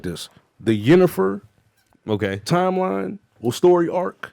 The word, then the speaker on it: Yennefer: Her name is Yennefer.